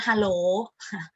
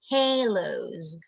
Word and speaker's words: halos: everything looks misty with halos it's not hello not halos halos okay the the last